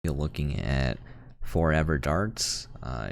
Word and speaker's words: ForeVR: you're looking at forever darts uh it's spelled for vr but it's pronounced forever and they made the